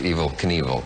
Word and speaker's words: Evel Knievel: back evil knievel that's how you pronounce it you have a little trouble with that don't you think well i i always want to say it it's evil you know you said that